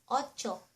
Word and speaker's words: otso: And to say 8 am, alas otso. Alas otso. Ot so (pronounced "cho") Alas otso.